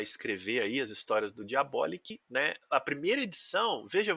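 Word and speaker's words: Diabolik: mais nada menos que Diabolic, ou Diabolique, né? Aí depende da sua pronúncia, ou Diabolic, caso você seja um americanoide. Pode falar Diabolic também, que a gente não trata mal, não. Eu prefiro ficar com Diabolic, porque eu acho que é um pouco mais próximo do português, né? Diabólico, então eu gosto dessa pronúncia Diabolic. Bom, Diabolic é uma série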